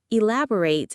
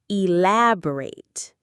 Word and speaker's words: elaborate: When we use it as an adjective to describe something, the ending becomes a soft ret sound. Elaborate. E, la, bo, ret.